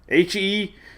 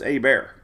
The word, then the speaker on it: Hebert: what it looks like h-e-b-e-r-t right Hebert but it's a bear totally different than the way it looks right didn't Gallagher do